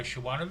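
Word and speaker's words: Siobhan: find it either by Shian the Fay spelled the way Shian is s i o b h an because it's Irish so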